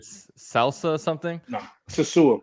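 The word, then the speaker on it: Sosúa: And Sasua is how you pronounce I don't know, what is that? Twitter? It's not my handle. A Twitter nickname. But, yeah, it's like Salsa something. No, Sasua.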